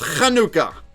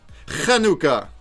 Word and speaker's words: Hanukkah: correct and that's because in Hebrew it's pronounced Hanukkah Hanukkah oh there's lag well